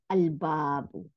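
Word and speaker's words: الْبَابُ: এখানে আল দিলে আল বাবু, লামের উচ্চারণ হয়েছে, এখানে কোনো সাদ্দা, তার মানে লামটা উচ্চারণ হয়েছে, এই জন্য বাটা ডবল হয় নাই, কিন্তু শামসি ওয়ার্ডে বা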